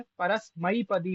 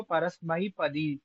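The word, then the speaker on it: परस्मैपदी: तो इसका वही है, परसमयी पदी पढ़ेंगे इसको, परसमयी पदी, परसमय पदी कोई ना पढ़े, वो जो ए को ऐ नहीं पढ़ते वो सबसे बड़ी समस्या है इत्यादि।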